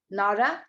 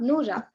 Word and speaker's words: Nora: i would like to repeat my name nora and not noora as most of the people pronounce it wrong thank you uh again